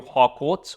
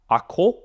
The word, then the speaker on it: Harcourt: Now, because of the partnership of the Honor 200 series with the legendary photography house Studio Harcourt, or Harcourt, as they would say in French.